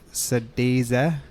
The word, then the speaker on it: Sëdézë: Our band name is actually pronounced Sëdézë. It is a Dene word. Sëdézë. Sëdézë is with tongue, how you would pronounce it actually.